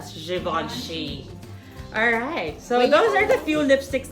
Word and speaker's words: Givenchy: a Givenchy in roast Africa so it's GI ve n CH y some people would say it's Givenchy or Givenchy but it's pronounced as - Siobhan Sheen alright so it goes there's a few lipsticks